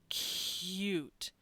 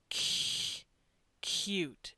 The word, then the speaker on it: cute: don't notice it but if you slow down cute cute it's got that H sound in between the the C and the